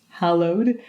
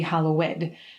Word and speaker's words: hallowed: be thy name note hallowed is pronounced hallowed when not said in the lord's prayer otherwise it would be hallowed i bring this tip